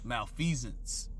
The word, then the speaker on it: malfeasance: let me get that word here because I pronounced it incorrectly five seasons malfeasance okay which means wrongdoing especially by a public